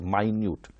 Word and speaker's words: minute: we know that fit is called as a minute and something that is extremely small extremely tiny very small minut that is called as minut it should be pronounced as minut we also have other examples